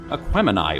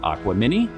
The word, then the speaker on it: Aquemini: 110, losing out to Outkast's Aquemini, or as Cory likes to call it, Aquamini.